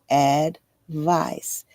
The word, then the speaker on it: advice: Despite their very similar spelling, advice and advise are pronounced differently. Advice rhymes with ice while advise rhymes with advertise.